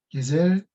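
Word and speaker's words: Gesellschaft: 게셀샤프트라고 하는데 SCHAFT. 어쨌든 이 단어를 발음하고 이 단어의 뜻을 이제 출제자가 이제 설명을 하면은 학생들이 GESELLSCHFT 이렇게 발표를 해드리는 것입니다.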